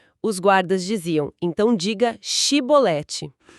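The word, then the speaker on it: shibboleth: do dialeto regional deles, não conseguiam pronunciar o som x, sabe? O som de x inglês ou o nosso x de xígara. Eles não tinham esse fonema na fala deles. Simplesmente não tinham. Então, em vez de chibolete, a pronúncia dele saía como cibolete. Essa pequena diferença, um X contra um S era a sentença de morte.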